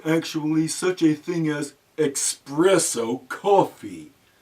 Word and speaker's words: espresso: such a thing as espresso coffee. This is a common mispronunciation of the popular European hot drink known as espresso.